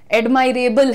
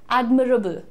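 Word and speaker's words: admirable: तारीफ के काबिल हैं, एडमायरेबल हैं. एडमायरेबल कुछ नहीं होता है. कैसे प्रोनाउंस करना है? एडमिरेबल. एडमिरेबल. इट इज नॉट एडमायरेबल.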